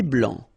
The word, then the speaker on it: blanc: Un thé vert, un thé blanc, final C not pronounced.